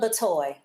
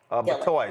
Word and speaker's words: Batoy: Is it Batoy or Bitoy? Just pronounce that for us. Batoy. Batoy.